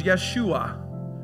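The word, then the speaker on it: ישוע: for Jesus is isus but his Hebrew name was Yeshua some even say yahushua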